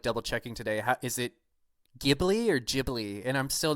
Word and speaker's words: Ghibli: Is it Ghibli or Ghibli? And I'm still not sure. I think it's Studio Ghibli. Ghibli. Yeah. Okay. Well, as in like the giblets.